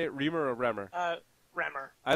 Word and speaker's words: Remor: Remor or Remor?